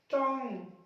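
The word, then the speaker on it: tongue: टंग, टंग जीभ, जीभ अपनी होती है जुबान, टंग।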